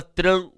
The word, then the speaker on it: tranquilo: Como também na palavra tranquilo, ó, quilo, né? Então nós temos a pronúncia do U.